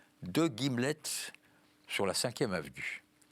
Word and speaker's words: gimlet: Donc, nous avons l'honneur d'avoir le titre de votre prochain roman, Deux Guillemets, c'est ça? Deux Gimlets. Un gimlet, ça s'écrit G-I-M-L-E-T.